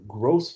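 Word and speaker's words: groß: that that B is an actually a double S is what you're looking at cuz it doesn't connect.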